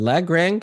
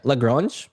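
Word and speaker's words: Lagrange: One is called uh the lag rang I think probably not me not pronouncing the name right or yeah. Yeah, lrange. Okay, thank you.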